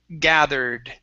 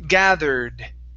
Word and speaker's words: gathered: the er so the this e is not pronounced so we say gathered gathered gathered yes good